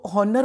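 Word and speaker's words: honour: में साइलेंट राहत है ओनर में हा नहीं बोलना सो ऑनर बोलने की गलती कभी नहीं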